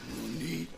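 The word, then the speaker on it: なに: You don't say nanny, you say nani.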